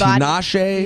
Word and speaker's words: Tinashe: Tinashe.